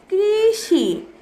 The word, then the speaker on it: কৃষি: ব রিকার বৃ, থ আকার থা, এই শব্দটির উচ্চারণ হয়ে গেল বৃথা। এরপর আসি কৃষি, ক রিকার ক্রি, মূর্ধন্য স, হ্রস্ব ইকার সি, কৃষি।